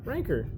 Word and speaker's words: Rancor: Um that was the most southern rancor I've ever heard. Ranker. Ranker. Ranker. That's how you say it.